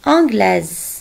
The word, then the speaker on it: anglaise: anglais parce que l'adjectif et masculin marie est anglaise mary et anglaise je prononce le est ce parce qu'il y avait